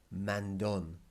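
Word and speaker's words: mandón: eco mean or nasty man done bossy one way to help you remember man done by the way and look there's an accent on there tells you that that o is hit man done if you think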